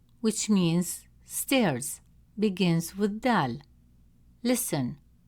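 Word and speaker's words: دال: It's a light and soft sound made at the front of the mouth. Example, the word d which means stairs begins with dal.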